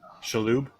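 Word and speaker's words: Shalhoub: Shaloo.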